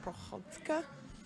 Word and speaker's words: Prychodko: Right choco no nope so it's Ukrainian and it's actually pronounced Prohaska but in American version is per had co2 because a lot of people can't do that so that's your name